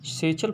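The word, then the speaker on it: satchel: With सेचल, यहाँ पर इसका प्रोनाउंसिएशन जो है आप क्या करेंगे, सेचल प्रोनाउंसिएशन रखना है आपको इसका।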